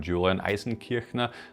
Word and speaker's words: Julian Eisenkirchner: I'm Julian Eisenkirchner. This is how I'm pronouncing my name. This is how it sounds in German.